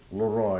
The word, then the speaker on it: Leroy: my name is ly it's two syllables